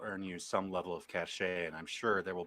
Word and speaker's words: cachet: Cachet. Would you say cachet? Does that mean cash? A or cachet? What do you cash? I think it's the French pronunciation.